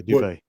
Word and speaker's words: Dubay: a hey, much kudos to Eric Dubay or Dubai. I'm not for sure how to pronounce his name. Yeah, Dubay.